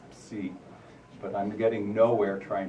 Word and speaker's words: psi: We call it psi, which is a Greek letter, actually pronounced psi.